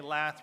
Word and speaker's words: lath: Okay, lath rhymes with math.